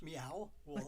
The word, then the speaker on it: Meow Wolf: So there's this group called Meow Wolf, which is spelled just like it sounds, Meow Wolf.